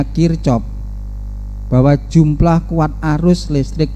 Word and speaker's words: Kirchhoff: Itu bacanya Kirchhoff, bahwa jumlah kuat arus listrik yang masuk, itu